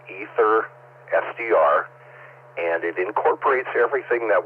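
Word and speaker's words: AetherSDR: Ether SDR, that's spelled AETHER SDR.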